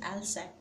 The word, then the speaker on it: Alsace: Then Alsace and Lorraine, the pronunciation is Alsace, and second it's Lorraine, the two French districts that had passed into Prussian hands.